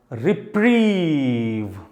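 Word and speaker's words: reprieve: Right, this is री। एंड how about this? This is प्राइव और प्रीव। This is प्रीव। तो पूरा word बना रिप्रीव।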